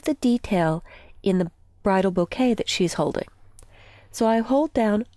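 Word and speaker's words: bokeh: now there's a lighting effect called bouquet and that's actually how it's pronounced and if you'll notice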